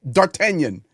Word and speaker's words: D'Artagnan: Yeah, D'Artagnan. Yes. Uh That's how you say it properly.